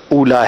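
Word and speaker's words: أولى: یہ جماد الاولا ہے لفظ, جو اس کا صحیح تلفظ ہے وہ اولا نہیں بلکہ اولا ہے.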